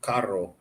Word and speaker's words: carro: Carro? Like when it's got two R's, you kind of roll your R. Carro and carro.